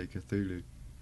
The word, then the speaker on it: Cthulhu: Vape the cthulu RTA I can pronounce it unlike Todd I only know that because there's a cradle fil song called cthulu Dawn and um that's why I know how to say cthulu there we go guys